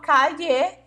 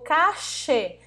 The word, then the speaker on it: calle: Calle, calle, calle, calle ou cache, tá? Podemos falar dessas formas, tá? Essas maneiras que podemos usar e todas estão corretas, vale, chicos?